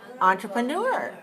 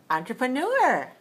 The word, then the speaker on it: entrepreneur: hear the stress on this word where is the stress four four one four two four three or four four okay i'll say it again entrepreneur four four okay watch me entrepreneur nice do that again good so it's a french version of the word like the word enterprise so in english we say n but in french you don't say n you say oh entrepreneur okay but we don't